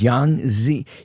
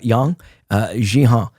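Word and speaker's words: Yang Xinhai: His name was Yang Zi. You got to pronounce it. It's Yang Jihan. So as you pronounce it with an X, Yang Jihan he's executed in 2004.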